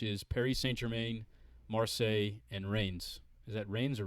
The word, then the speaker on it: Reims: of stopping, which is Paris Saint-Germain, Marseille, and Reims. Is that Reims or Rennes?